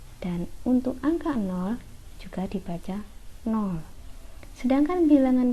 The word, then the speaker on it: nol: Saya tegaskan di sini ini bacanya nol bukan kosong oke bilangan bulat dapat